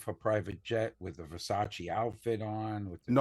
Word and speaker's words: Versace: When she flew into Naples, she got off of her private jet with a Versace outfit on with No, it's it's pronounced it's pronounced Versace.